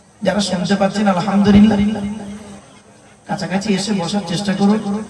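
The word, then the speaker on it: الحمد لله: নিয়ত বেঁধে দোয়া সানা পড়ে আপনি বলেন আলহামদুলিল্লাহ রাব্বিল আলামিন। আলহামদুলিল্লাহ, হাই হটি গলার ভিতর থেকে হেটা উচ্চারণ হবে।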